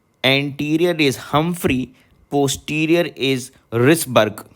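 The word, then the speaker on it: Wrisberg: is called ligament of risberg H comes before W so remember anterior is Humphrey posterior is risberg w I guess here is silent the spelling is w r i s b e RG and last of all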